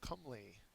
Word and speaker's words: comely: exotic antonym is native next word is Cle and CLE has the accent mark on the first syllable it's an adjective it's